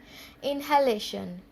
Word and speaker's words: inhalation: Okay, इनहेलेशन क्या है word? INHALATION. इनहेलेशन means we breathe in air through our nose, that is इनहेलेशन.